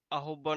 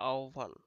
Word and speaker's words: আহ্বান: পদ্ম বানানটা হচ্ছে পদ্ম আহ্বান এটা অনেকে উচ্চারণ করে এটা উচ্চারণ হবে আহ্বান ঠিক আছে পদ্ম বানানটা